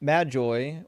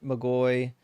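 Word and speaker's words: Magi: And then Majoy or Magoy, however you want to pronounce the G in Greek, um typically just refers to like astrologers.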